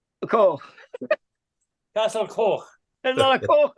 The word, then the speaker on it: Coch: I cycled all the way to, I can never pronounce this right, to Castle Cog. How do I say it, Taffy? It's not cock.